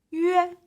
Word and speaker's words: yue: Next is yue. This is another final that is so hard to pronounce. If you put it together, y, u, and e, you get the sound yue.